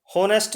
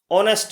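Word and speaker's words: honest: जैसे होनेस्ट नहीं है, ये हम कई बार गलती से होनेस्ट पढ़ जाते हैं क्योंकि इसमें एच है आगे, जबकि ये ऑनेस्ट है, ऑनेस्ट। एच इसमें साइलेंट है, तो ओ की आवाज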